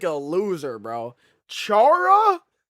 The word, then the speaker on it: Chara: who is already a If you say Kara, bro, you're wrong. Kara? That's not fucking Kara. There is no way people pronounce that shit like Kara, bro. To be fair, I choose not to remember 2025 and 2024, so that makes sense. It's okay. I barely remember it either. There is not pronounced Kara, bro. It's Chara.